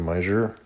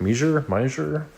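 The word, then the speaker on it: Meijer: I don't know if anyone's heard of meer. I think it's spelled M E M E I J E R I think. Mer something like a cross between like a Walmart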